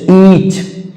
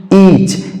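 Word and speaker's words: each: यहां पे साइलेंट होगा ई ए सी एच ईच ईच ई के बाद ई के बाद ए आया तो यहां पर साइलेंट होगा उसी तरह से ब्रेड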